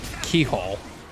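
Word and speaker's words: Cichol: Also, it's pronounced keyhole. That's actually what it, how it's pronounced.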